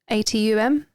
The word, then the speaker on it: Atum: Now, you might need to correct me if I pronounce this wrong. The god Atum. Yeah. Yeah? Yeah. Atum.